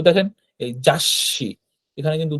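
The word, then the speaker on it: 雑誌: তো দেখেন এই যাসি, এখানে কিন্তু উচ্চারণ লেখা আছে, হ্যাঁ, যাসি, অর্থাৎ এই সুটার আলাদা কোনো উচ্চারণ হচ্ছে না, কিন্তু এই সিটাই কিন্তু ডাবল উচ্চারণ হচ্ছে, হ্যাঁ, যাসি।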